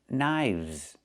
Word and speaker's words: knives: One knife, two knives. Again, with the VV sound plus the Z sound like in zebra. Knives.